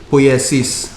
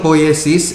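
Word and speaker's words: poiesis: until 1976 so heidegger re reintroduced the term poliasis spelled p-o-i-e-s-i-s for him i the meaning of poet sees is in greek it is truth making or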